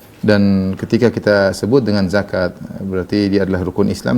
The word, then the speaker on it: zakat: begitu lebih tentang fiqih zakat maka cara membacanya panjang namun yang perlu kita